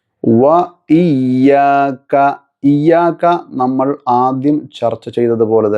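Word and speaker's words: وَإِيَّاكَ: ശേഷം വ ഇയ്യാക. ഇവിടെ വാവ് ഉച്ചരിക്കുമ്പോൾ ശ്രദ്ധിക്കുക. രണ്ട് ചുണ്ട് വൃത്താകൃതിയിലായി നടു ഒഴിവായി കൊണ്ട് വേണം ഉച്ചരിക്കാൻ. വാവ് വാവ് വ വ ഇയ്യാക. ഇയ്യാക നമ്മൾ ആദ്യം ചർച്ച ചെയ്തതുപോലെ തന്നെ ഉച്ചരിക്കുക. സെയിം പദമാണല്ലോ. വ ഇയ്യാക വ ഇയ്യാക വ ഇയ്യാക നസ്തഈൻ നസ്.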